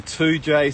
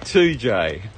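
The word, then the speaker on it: Toodyay: in the center there are like a local 2j stone 2j is a place in west australia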